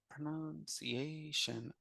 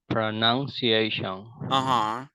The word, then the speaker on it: pronunciation: Whereas in this first one, pra, I do not say pro, I say pra. Pronunciation. And so and I was thinking that it was pro, but it's pra.